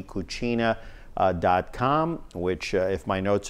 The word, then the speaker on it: cucina: Lee DeMilo joining us here on Studio 411 for the hour, Lingua e Cucina.